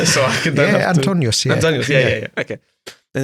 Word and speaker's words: Antonius: And is that how you pronounce it? No? Oh, anything. No, will do. say it so I can. Yeah, Antonius.